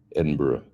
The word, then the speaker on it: Edinburgh: My pronunciations are off on Edinburgh, Glasgow, Edinburgh. I always say Edinburgh. I put too much G on the end, I guess, don't I?